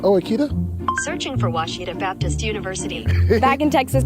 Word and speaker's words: Ouachita: University get it right it's Ouachita people it's Ouachita Washita hi my name